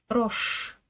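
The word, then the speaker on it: рожь: Aucun effet du signe mou ici. Roche roche le segègle.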